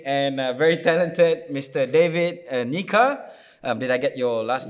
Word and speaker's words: Nyika: And it's more, and you were telling me it's more of a N-Y-E. Yeah. So it's a Nyika, which is the right pronunciation. Emphasis on the Nyika.